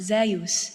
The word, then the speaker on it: Zeus: been my love for Zeus pronounced zus in ancient Greece Greek as a young queer